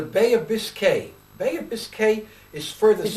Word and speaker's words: Biscay: Bay of Biscay is further south. Is it Bay of Biscayne? Bay of Biscay. B-I-S-C-A-Y. I thought it was N-E and it's pronounced Biscay. Okay.